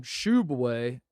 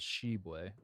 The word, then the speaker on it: Tshiebwe: When Oscar, at the time, Shubway committed to West Virginia, it was put in parentheses, pronounced Shubway. Yes. And then now he's at Kentucky, and you look up the pronunciation at Kentucky on their website, it says Shebway.